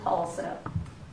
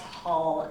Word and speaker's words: Halseth: And for the record, our last name is pronounced Hall, H-A-L-L, Seth. And that's for the media because they say Hal, but it's Halseth.